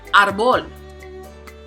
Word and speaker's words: árbol: So let's check out árbol, which means tree. This one has two syllables, so the prosodic accent is going to be on the first, which is in this case the second to the last. Árbol. Next, tenemos hueso.